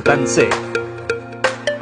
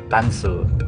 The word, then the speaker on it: Tanzi: good evening going to tans I don't know how to pronounce it okay we are on our way papuntang tance ayan driver corrected me that it's tansu tansu and not really tansi Yeah that's the eec